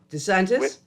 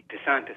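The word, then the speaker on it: DeSantis: a couple months ago where I'm try to pronounce my boy name the Republican governor in Florida Des santis Des santis that's right where they where they either B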